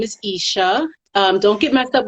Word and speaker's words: Eshe: the spelling but just think of keisha or you should without the king of the eye i like saying that sometimes people see my name on instagram or facebook and they don't want to say it like they see me in person so it's isha um isha speaks on